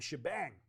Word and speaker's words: shebang: Of course, when I uh was announced, it was uh pronounced as Shebang.